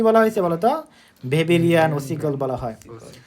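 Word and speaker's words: Weberian: কি বলা হয়েছে বলতো ভেবেরিয়ান ওসিগল বলা হয় জার্মান ভাষায় ডর এর উচ্চারণ কি ভি এর মত হয়ে থাকে এজন্য এটা কিন্তু ভেবেরিয়ান ওসিগল হয়ে গেছে বা ওভেরিয়ান ওসিগলও বলতে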